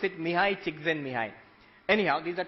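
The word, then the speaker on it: Mihaly Csikszentmihalyi: You pronounce it Mihai Csikszentmihalyi.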